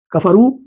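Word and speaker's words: كفروا: اسم کی واو ہے، یہ تلفظ میں نہیں آتا۔ کفرو جب ہم پڑھتے ہیں تو الف نہیں پڑھا جاتا۔ تو یہ پورا جملہ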